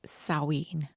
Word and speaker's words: Samhain: So, Halloween originated from the Celtic New Year known as Sawin. I think that's how you say it. Um, I'm sure there will be people who are very much into this kind of thing that will probably correct me if I've said that wrong. It's spelled Sam Hayne, but it said saw and saw is 18